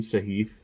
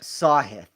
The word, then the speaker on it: Sahith: I mean, we both Is have that how you say his name, Sahith, or is it Sahith? It is a lot of these names. Sahith.